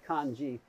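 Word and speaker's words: 漢字: you have two letters those two letters are pronounced kanji the khan means chinese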